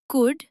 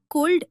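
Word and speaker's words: could: जैसे talk, walk, calf, half, कुड, शुड और वुड। इसे कुल्ड या शुल्ड कहना बिल्कुल गलत है।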